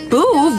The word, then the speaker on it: Boov: Boove rhymes with groove.